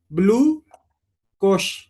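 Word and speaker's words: blue cohosh: इसका common name है ब्लू कोश, COHOSH, ब्लू कोश।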